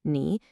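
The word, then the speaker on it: 你: You is ni, pronounced ni, and the ever-important thank you is 谢谢 or 谢谢.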